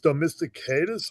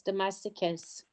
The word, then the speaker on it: domesticus: And I think it's copronellis dosticus maybe. I'm not Oh, I'm not sure. Um Oh, you know what? Well, it's Yes, it is. Domesticus.